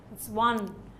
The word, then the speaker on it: one: now please listen carefully it's not an oneeyed man because the word one has to be pronounced this is the phonetic transcription of the word one so when you so now this is the beginning sound which is a consonant sound one right uh one a